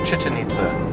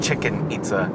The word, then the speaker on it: Chichen Itza: It's Chichen Itza, not Chicken Itza. But it looks like Chichen Itza. No, it's not spelled like chicken. There's no K.